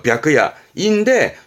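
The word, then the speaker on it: 白夜: 발음은 벽입니다. 그래서 벽야인데 주로는 하크야 씁니다.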